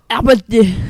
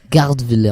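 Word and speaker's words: Gertwiller: Gutwiller. Non, Gutwiller. Gardwiller, on dit.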